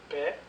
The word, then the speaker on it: paye: remplace le y puis la prononciation paye P paye pay paye pai payant payant payer payer paye pai donc moi je préfère